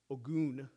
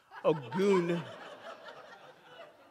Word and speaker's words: Ogun: the word ogen or or the actual correct pronunciation ogoon please don't call me that a goon and harry i'm site tracking again when i